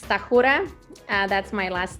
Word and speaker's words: Stachura: right when I'm in America yes so it's tahura that's my last name and I'm very honored